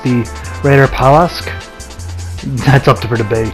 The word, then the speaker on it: Reiterpallasch: is pretty terrible but I think it's pronounced the Raider Palace that's up to Berta